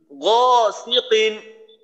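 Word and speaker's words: غَاسِقٍ: গরম মতো গ গিকিন অর্থাৎ বাংলা গ বর্ণের মতো যেন উচ্চারণ না হয় গ খুবই মোটা করার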